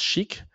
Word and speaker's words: SCHC: une norme internationale euh sous le nom schc donc static context header compression compression des des entêtes des protocoles par des contextes statiques bon on la prononce chic quand même pour signifier que euh bah c'est une belle techno et puis elle elle